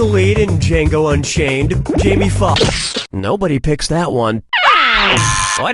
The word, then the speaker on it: Foxx: Jamie Foxx. Nobody picks that one. Why didn't you pick this? Jamie Foxx's last name has 2 X's in it. The first X is silent.